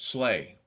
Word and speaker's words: SLEA: Suburban Law Enforcement Academy, SLEA, pronounced SLAY.